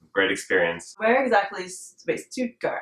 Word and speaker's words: Stuttgart: at Hunter College great experience where exactly wait stutgart how do you say that stutgart stutgart St